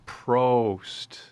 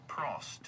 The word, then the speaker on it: Prost: No, you even said it wrong again. It's Prost. Pro oh Prost. That's funny. Wow, that's interesting. Say professional. Professional. So, now say pro Prost.